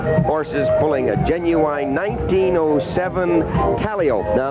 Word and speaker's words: calliope: pulling a genuine 1907 calliope. Now, that's the way the old-timers pronounced it, calliope, and there's our old friend Mickey Mouse.